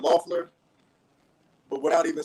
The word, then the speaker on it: Loeffler: How do you pronounce the last name? Loeffler, but without even saying her name.